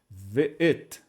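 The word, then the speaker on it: וְאֵת: é mudo, o tser de baixo é o som de E o tav no final, que é o som de T. Então ficaria tudo assim, ve'et, ve'et.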